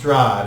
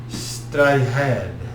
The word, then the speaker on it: Strahd: The word Strahd actually means rebirth, but it's not pronounced Strahd. It's like Strahd.